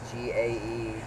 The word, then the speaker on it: Gaetz: There's two Gates. The other Gates is spelled differently. Gaetz. Jetz, right?